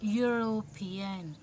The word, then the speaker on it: European: with an oval letter e of course everybody knows e is a novel but it produces a consonant sounding here observe pronounce it european u that means yeah